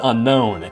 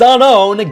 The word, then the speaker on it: Unown: head every time they mispronounced unknown as unknown it's unknown get it right despite this I can